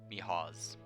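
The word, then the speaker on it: Mihoz: his name is mijos m-i-h-o-z mihaws he's not hoes no no should pronounce it properly mihaw's okay i only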